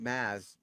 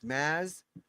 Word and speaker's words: Mads: So you call it Maz. He's get the D is silent. So it's Maz Vimos Larsen Denmark.